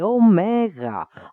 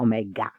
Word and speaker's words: omega: This is the omega. I know some people call it omega, but it's not omega. It's omega.